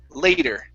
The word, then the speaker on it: later: with the word later that that a it's a diphthong so it's a instead of le or sorry le letter it's lay later all right later there